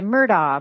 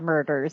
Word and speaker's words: Murdaugh: that we had before our hiatus was the murdah murders and that is how you pronounce it the murder murders um if you